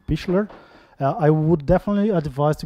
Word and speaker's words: Pichler: don't know Roman Pichler I've just learned today how to pronounce his name Michler I would definitely advise